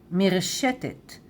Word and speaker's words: מרשתת: You can say internet in Hebrew also, but Hebrew pronunciation, right? Internet. And there is also a 100% Hebrew word, מרשתת, מרשתת.